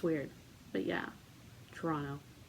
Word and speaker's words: Toronto: If you pronounce the second T in Toronto, you obviously don't live in Toronto.